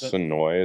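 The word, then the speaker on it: Suwanee: it's in sooya Georgia sooya is sooi is how they pronounce it I believe I'm gonna say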